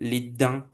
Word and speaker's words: les dents: The S, the final S of the plural is also mute, like we say, les dents, les devoirs.